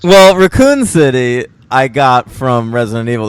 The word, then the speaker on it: Raccoon City: did you start uh pronouncing words with the second syllable emphasized well Raccoon City I got from Resident